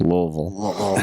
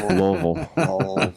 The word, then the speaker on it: Louisville: You notice how I said that, Louisville. That's I how it's heard that. pronounced, Louisville. Louisville.